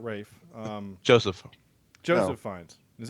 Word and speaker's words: Ralph: Well, yeah, but that's Rafe Fiennes. That's how they pronounce Rafe in Yeah. England. So it's Rafe. Oh, I did not. Yeah, it's like Rafe Vaughan Williams, not Ralph Vaughan Williams. It's Rafe.